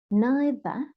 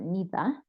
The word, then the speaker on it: neither: Neither or neither, you know that you could say neither or neither or either or either, okay?